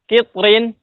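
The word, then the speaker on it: قطر: Kalau ketemu dengan kalimat kitrin, nah, ya, kitr, kitr. Nah, itu dibacanya tipis, kitr, kitr, kitr.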